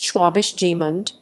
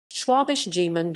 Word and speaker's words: Schwäbisch Gmünd: schwabisch jimond schwabisch jimen german pronunciation sleepy is gemint until 1934 gmund is